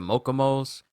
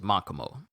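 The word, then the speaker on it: Makomo: crumbles to nothing and i think i may have said uh makamo's name wrong i said mokomos but it was makamo but uh then he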